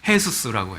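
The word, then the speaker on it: Jesús: 있어요 해수수 해수수라 그러거든요 근데 진짜 철자도 똑같아 Jesus J 발음이 스페니쉬 발음을 해 발음이 나거든요 그래서 해수스라고 해요 그러니까 예수 지저스 아빠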